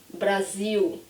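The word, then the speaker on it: Brasil: what are you here when I say Brazil you probably don't hear an L if you speak English you'll hear something like the word feel like a few people right Brazil so it's more like a W in the end for you or maybe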